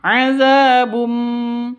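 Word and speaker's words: عذابٌ: Jadi cara bacanya itu ee masuk ke mim disertai dengung. Masuk ke mim disertai dengung. Adzabum seperti itu.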